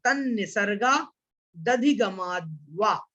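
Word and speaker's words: तन्निसर्गादधिगमाद्वा: देखिए हमें कैसा उच्चारण करना है, पहले तो तन्निसर्गा यहां तक बोलना है, फिर दधिगमाद्वा।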